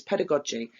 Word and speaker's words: pedagogy: So I always pronounce this wrong, but I've learned it's pedagogy.